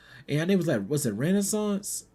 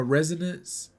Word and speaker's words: Resonance: I'm I'm Renaissance. I I didn't I didn't I I think I said it wrong or Yeah. No, Resonance. Resonance.